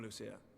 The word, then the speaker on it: Lucia: I might one day return the favor come Lucia oh so it is Lucia okay I thought it was some weird pronunciation like Lucia or something but no it is Lucia everyone